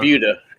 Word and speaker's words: Buda: Oh, is it Buda? Yeah, Okay. Buda is how they pronounce it.